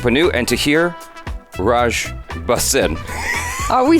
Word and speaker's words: Tahir: I like your pronunciation. So it's like a Taapsee. And Taapsee, mine is Tahir.